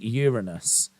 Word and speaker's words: Uranus: I'm going to destroy Uranus tonight. Yeah, you see the problem there, Kevin? The problem there, mate, is it calls back to a point I made earlier. You actually pronounce it Uranus.